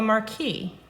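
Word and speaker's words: marquis: And that is called a marquee, and it's spelled M-A-R-Q-U-I-S.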